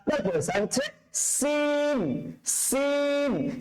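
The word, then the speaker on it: سين: তারপরে স্যার হচ্ছে scene scene. সিনটা যখন উচ্চারণ করবে তখন আপনার মুখ ভর্তি আওয়াজ হবে। সরি সরি, সিনটা উচ্চারণ করার সময় আপনার টায়ার পাঞ্চারের মতন আওয়াজ হবে।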